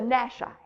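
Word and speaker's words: Nashi: their early 20s and he has created the nash i let's see if i'm pronouncing that correctly yes putin's shock force and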